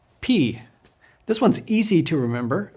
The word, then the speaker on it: pi: say it with me Omron o Omron o p this one's easy to remember because we have a mathematical symbol pi but don't pronounce it as Pi it's p now say